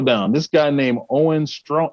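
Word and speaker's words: Strachan: guy i'm scroll down this guy named owen strong strong that's how you pronounce his name okay i was seeing him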